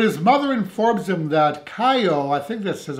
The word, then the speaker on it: Caio: So when his mother informs him that Caio, I think this is how you pronounce his name, the neighborhood kid from apartment